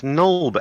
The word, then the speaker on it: Nulb: Nulble. Right, so you're heading to Nulb. What are you taking with you? Are you taking your horses Yeah. that you found underground? It's Nulb.